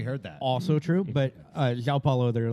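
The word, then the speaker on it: João: Is it actually Zhao? You know how I know it's actually Zhao? Because half of Brazil is named Zhao. We heard that. Also true, but Zhao Paulo, there are like 17 of them.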